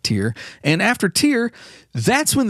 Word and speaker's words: Tyr: I've I've heard that pronounced a few different ways. Some people just say Tyr. I call it Tier.